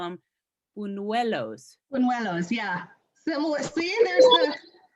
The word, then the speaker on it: buñuelos: it's called, I'll see if I can pronounce it correctly, and otherwise please help me, but they call them buñuelos.